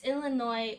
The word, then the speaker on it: Illinois: So is it Illinois or Illinois? Okay, it's Illinois.